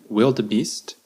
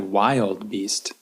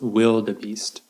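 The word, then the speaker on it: wildebeest: word you think that kind of looks like wild beast but it's pronounced will the Beast will the beast in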